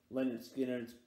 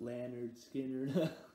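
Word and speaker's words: Lynyrd Skynyrd: and then i got leonard skinner's pronounced lanyard skinner yeah this third debut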